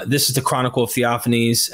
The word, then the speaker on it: Theophanes: is the chronicle of theophanes am I saying that properly yeah offense you're absolutely right that's how I always pronounced it so in theophanese the